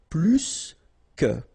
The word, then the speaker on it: plus que: in that case, remember, plus will be with the S. So pronounce it plus que.